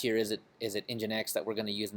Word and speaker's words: nginx: what I'm saying yeah as far as I know you pronounce it engine X so you know whatever